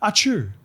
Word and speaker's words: Arthur: I think he's the it's pronounced Archu over there. You remember Archu um our man our man um when we played there.